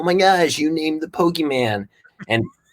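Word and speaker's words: Pokémon: said it you said pokey Pokemon little accent poke Pokemon yes Pokemon or Pokemon those are the acceptable ones not poke not a long e don't say Pokey no don't make it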